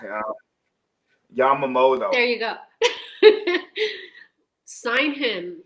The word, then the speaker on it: Yamamoto: Yamamat. yeah. Yamamoto.